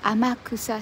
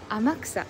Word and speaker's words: 天草: Kanji on the street、今日も始めますよ。I'll start the Kanji on the street。今日はですね、Amakusa市イルカセンターからです。はい、じゃあちょっとお見せしましょう。ここはですね、熊本県。Here is a 熊本 prefecture, Amakusa City.